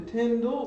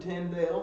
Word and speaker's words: Tyndale: pronunciations of that name it either comes down to tyndall or tyndale most english scholars that i know of pronounce it tyndale so that's the way i do if you are holding